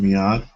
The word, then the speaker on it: Miad: already given people that Miad's uh am I pronouncing your name correct? Is it Miad?